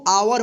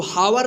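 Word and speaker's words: hour: एच ओ यू आर इसको आवर पढ़ेंगे। इसको हावर नहीं भी पढ़ेंगे। ठीक है ना? तो देखिए यहां पे ये जो है ना ये यहां पे एच जो है ना साइलेंट वर्ड है।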